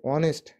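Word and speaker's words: honest: যেমন হি ইজ অ্যান অনেস্ট ম্যান, তাহলে অনেস্ট, এখানে আমরা কিন্তু এইচ, দেখো অনেস্ট শব্দটির সামনে কিন্তু এইচ রয়েছে, কিন্তু উচ্চারণ হচ্ছে অনেস্ট, মানে এইচটি উজ্জ্ব রয়েছে,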